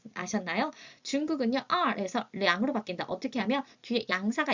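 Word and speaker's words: 两: 읽는 소리 또한 달라집니다. 량이라고 읽으셔야 해요.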